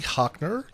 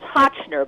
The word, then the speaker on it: Hochtner: right uh welcome to the show Now hockner the pet talk lady how you doing hey I'm great Dan it's Hotchner but it's not that important did you say